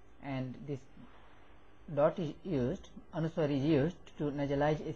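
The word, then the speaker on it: अनुस्वार: This dot is called anuswar and this dot is used, anuswar is used to nasalize a syllable. Pa cha, pa cha. This sign here is called chandrabindu or anunasika. Chandrabindu or anunasika. So anuswar, this dot here and this chandrabindu, they have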